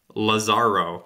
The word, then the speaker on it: Lazaro: Yeah, the commentator was saying Lazaro, like putting more emphasis on the first.